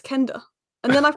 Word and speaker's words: Quenda: That makes more sense, because I kept saying Quenda, and they were like, "No, Alice, it's Kenda. Like, imagine it's a K, not a QU."